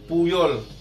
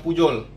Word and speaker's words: Puyol: Contohnya ada Puyol, ya. Tapi ada di daerah di Spanyol nyebutnya Pujol, ya, Pujol, ya, antara J sama Y, antara situ.